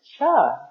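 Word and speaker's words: Chih: community, is Tai Chi Cha. That third little word is pronounced cha, like chuck wagon.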